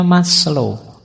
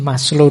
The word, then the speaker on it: Maslow: Yang ketiga yang sering dianggap berpengaruh dalam gagasannya callback adalah teorinya Maslow.